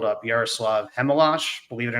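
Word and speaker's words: Chmelař: They called up Yaruslav Hemalash.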